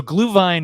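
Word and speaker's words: Glühwein: the glue wine or the mulled wine so gluvine is actually the German pronunciation yeah so you got mulled wine which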